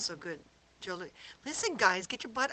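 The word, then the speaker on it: Jos: Except it's spelled J-O-S. It's spelled J-O-S, but it's pronounced Joe.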